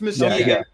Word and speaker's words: Muskegon: Is it Muskegon or how do you say the city correctly? You did it right. It's Muskegon. Yeah.